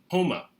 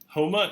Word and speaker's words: Houma: Houma. Houma is the name of a Native American population in South Louisiana.